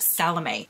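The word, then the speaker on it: Salomé: Sylvia Marina Garcia called the seventh veil of salame somebody in my comments on the book of the month prediction video corrected my pronunciation of that so apparently it is pronounced salame and this again was one of my predictions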